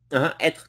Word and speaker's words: être: être ou être? Do I pronounce être. The R? Être. It comes from here. Être. You pronounce the R.